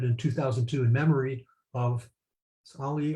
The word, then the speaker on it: Ali: The Ali Forney Center, or Lee Forney Center, was founded in 2002 in memory of Ali or Ali, I think it's Ali, it's the correct pronunciation, who was a homeless,